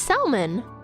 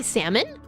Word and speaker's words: salmon: fun isn't it it's salman you guys say salmon but there's there's there's clearly an l there salman there's an l